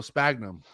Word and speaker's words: sphagnum: It's spelled Sphagnum, bro. Sphagnum. Sphagnum. It's funny to say it because You don't have to say the H.